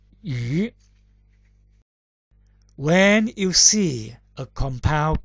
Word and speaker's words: 魚: That means the pronunciation of character fish is yu.